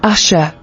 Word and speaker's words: Asher: Asher origin Hebrew ASA meaning happy you're blessed pronunciation Asha Bible verse Genesis 3013 ESV and Leah said